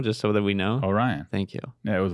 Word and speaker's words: Orion: would one it was one time can you pronounce it now just so that we know oh Ryan thank you yeah it was one time I